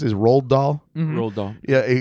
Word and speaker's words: Roald Dahl: And he goes, "Oh, like how do you pronounce it? Roald Dahl?